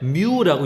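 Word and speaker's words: μ: 이거는 그리스어인데 뮤라고 읽어요.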